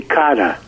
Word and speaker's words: Cara: But the way the correct pronunciation being it's Italian, it would be Cara. Cara, that's what I thought. Cara. And you don't even say the R, which for a New Yorker is really easy.